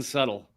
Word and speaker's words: subtle: As the joke goes, Trump pronounces the B in subtle.